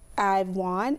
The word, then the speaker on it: I'vf Won: So the title of my book is I've Won. It's pronounced I've, like I-V-E.